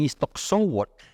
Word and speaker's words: Iztaccíhuatl: Bueno, luego la Iztaccíhuatl, ellos no dicen Iztaccíhuatl, dicen Iztoccíhuatl. Esa es su forma de pronunciar esa palabra.